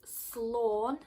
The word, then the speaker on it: Sláinte: So the easiest way to write this phonetically is Slawn, so like S-L-A-W-N, and then sh is like C-H-E.